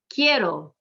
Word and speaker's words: quiero: Quiero, the QU makes a K sound, the IE makes one sound, it's a diphthong, it's the second to last syllable, we're going to emphasize it because it ends in an O, which is a vowel.